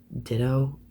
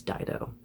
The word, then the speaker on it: Dido: Next album is, I pronounce it Ditto. I think she's Dido.